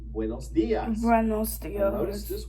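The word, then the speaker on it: días: And notice that dias has an accent on the I, so stress it. Try it. Buenos dias. Buenos dias.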